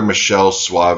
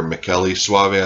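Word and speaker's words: Michele Soavi: It's another Michelle Suave, or Michele Suave, I think is how they pronounce it.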